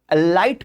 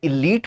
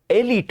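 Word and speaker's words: elite: आज भी बहुत से लोग इसको एलाइट पढ़ते हैं। बिल्कुल नहीं। या तो इसे इलीट पढ़ेंगे या इसको एलट पढ़ेंगे।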